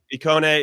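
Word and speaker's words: Ikoné: My only issue with Lille, really quickly, is that with no Iconi, is that how you say it, JJ? Iconi? Icone is an amazing player.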